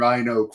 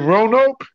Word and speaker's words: Roanoke: John tips you $5, and he's wondering how many years you actually lived in Rhine Oak for. I live in Roanoke? Roanoke, yeah. Sorry, I'm pronouncing it wrong.